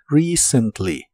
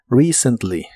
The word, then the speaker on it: recently: recently que significa recientemente la primera e se pronuncia como I larga o doble recently recently y usaremos la frase